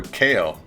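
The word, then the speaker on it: Kao: Also, this game's been around for 20 years, and I've been pronouncing it wrong for a very long time. KO the Kangaroo. Not Cow the Kangaroo, KO the Kangaroo.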